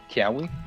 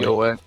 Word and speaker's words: Kiawe: How you pronounce his name? Kiawe? Kiawe. Kyoa.